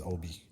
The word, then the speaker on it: Ohbee: His name's Obi. Obi like Obi-Wan Kenobi. Like Behave. But we spell it behave.